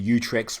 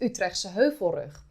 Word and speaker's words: Utrecht: province of utrecht and it's pronounced utrecht or in english the utrecht hill ridge this is a sandwich